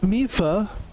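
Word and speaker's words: Mipha: Sidon continues, the fact that this armor fits Link perfectly should be proof enough that Mifa, because we finally know how to say her name, made it for him and him alone.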